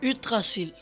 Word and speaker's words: Yggdrasil: Yggdrasil, or as my Danish son who can actually pronounce it calls it, Yggdrasil. In Norwegian, Yggdrasil.